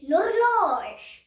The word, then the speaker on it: l'horloge: You should keep the H, but it is silent H.